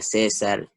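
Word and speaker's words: Caesar: Bueno, el diptongo AE en el español se pronuncia E. Un ejemplo sería CAE César, AETAS, PAENA, pero esas palabras no se pronuncian así. La verdadera pronunciación sería César, edad, pena.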